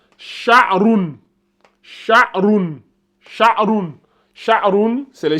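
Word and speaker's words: شعر: Sha, A, Roun. Donc, ça donne Sha'roun.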